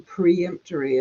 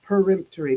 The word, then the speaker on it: peremptory: final perim peremptory uh everybody keeps saying preemptory it's peremptory p e r e m p t o r y so there I have